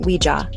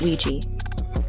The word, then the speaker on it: Ouija: It's pronounced Ouija, not Ouija.